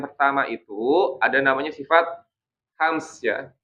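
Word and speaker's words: همس: Bacanya bukan hames, ya. Kalau hames itu kurang fasih ya. Tapi hams ya. Hams ya. Jadi bukan hames. Hams sebagaimana iya bukan hames. Kalau hames itu kurang fasih gitu ya.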